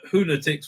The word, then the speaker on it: Hoonatics: I prudently informed the researcher that it's Hoonatics rhymes with lunatics, not fanatics, right?